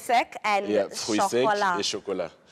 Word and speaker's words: chocolat: Let's say, what is chocolate in French? In French, chocolate is actually chocolat.